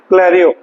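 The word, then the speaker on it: clarion: जब उच्चारण करेंगे क्लेरियो का तो अ जो एन है यहां पे अंग की साउंड होनी चाहिए क्लेरियो नेक्स्ट है कोर्नेट क्या है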